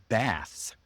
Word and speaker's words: bath: For example, Americans pronounce the words baths with a short a sound. bath. Not you know like like like the the slide shows you there bath. It's ah you drop your jaw.